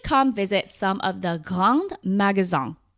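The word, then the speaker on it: grands magasins: visit some of the Gang Magazon, which is spelled like Grand Magazine, which are basically department stores.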